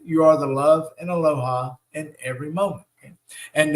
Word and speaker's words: Aloha: so when we say aloha we mean love when we say love we mean aloha love that beautiful word okay and we really like it because it's three syllables right Aloha right and we know